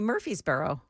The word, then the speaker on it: Murfreesboro: They don't say the R in Murfreesboro. No, they don't. They say Murfreesboro. Murfreesboro. That's it.